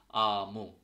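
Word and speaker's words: aamu: সেক্ষেত্রে একটা ফিনিশ একটা শব্দ আছে যেরকম আমু। সো আমু, সো এইটা নর্মালি আর মতো উচ্চারণ হচ্ছে, বা সরিয়া আমু।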